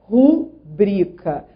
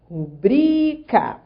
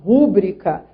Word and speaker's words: rubrica: Atenção também, nessa frase 6, ao vocábulo cuja pronúncia correta é rubrica. Rubrica. Então, assim, a sílaba tônica é o bri. Trata-se de uma paroxítona.